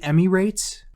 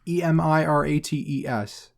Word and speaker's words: Emirates: how do you say is it emmy rates e-m-i-r-a-t-e-s how do you pronounce that emirates sounds that sounds better than emmy rates yeah emirates the emirates